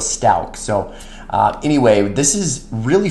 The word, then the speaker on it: Stauch: I know I've been saying her name wrong, and I've heard so many different variations of it, but we're going to go with Stauch.